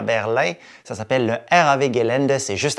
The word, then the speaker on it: RAW Gelände: Et bien sûr, le W se prononce V en allemand. Donc, RAW Gelände.